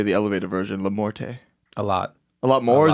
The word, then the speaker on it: LaMorte: Guys, we have LaMorte here.